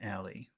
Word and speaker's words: alley: you've got this noun alley that's something you should emphasize so you you have to emphasize the the big powerful sound in Aly which which syllable should you emphasize in Ali Al Ali okay so keep that Rhythm